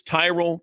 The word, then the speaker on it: Tyrol: It's Tyrell Pickle Ball Shoes. You spell it T Y R O L.